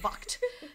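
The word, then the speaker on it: Vogt-Roberts: It's currently in development with Jordan, I'm going to mispronounce this, Jordan Roberts, Jordan Vo Roberts on board to direct. It's V-O-G-T, Vocht, V-O-G-T hyphen Roberts.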